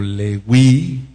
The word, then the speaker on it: Leví: 8 la tribu de leví o lewis porque se pronuncia como w demostró lealtad y entrega